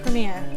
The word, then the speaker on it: premier: Premier. Premier. Premier. So you put the emphasis on the premier. You put the emphasis on the ear.